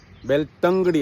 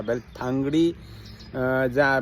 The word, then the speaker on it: बेलतंगडी: सगळं व्हिडिओ केलो त्याच्यात मला सत्तरी आणि बेलतांगडी बेलतंगडी अस म्हणायचा नंतर मला चौकशी करण विचारला बेलथांगडी आधी म्हटला आता इंग्लिशच्या स्पेलिंग मधल्या म्हटला पण उच्चार बेलतंगडी असा म्हणायचा तसं कर्नाटकात आणि आमच्या भाषात त आणि थ माचा हेडा हसे तर